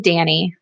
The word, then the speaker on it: Dani: and her insane barking I pronounce my name Dani like like the boy named Danny it's short for Danielle